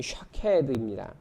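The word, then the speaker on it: שָׁקֵד: 그런데 그 발음이 샤케드입니다. 그리고 선지자가 그 하나님께서 말씀을 지키겠다 하신 것을 지키겠다 그렇게 말씀하신 그 단어 지키다라고 하는 단어가 쇼케드입니다. 그러니까 발음이 비슷하잖아요.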